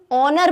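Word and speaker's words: honour: Start हो रहा है एच से, तो हमको क्या लगेगा? कॉन्सोनेंट है, अ लगा दो। बट अगर हम इसे प्रोनाउंस करें, हम इसे ऑनर बोलते हैं, ओ का साउंड आता है, और ये ओ जो है वो क्या है? हमारा वॉवल साउंड।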